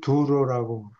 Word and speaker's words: 두로: 그래서 그리스들이 두로라고 예. 예. 발음해요. 두로 두로 우리도 두로라고 발음하잖아. 우리도 성경에도 두로라고 적예. 아 타이어를 두루라고 해요. 예. 두로라 그래요. 그 그리스 발음으로 그리스 사람들은 몸이 우리처럼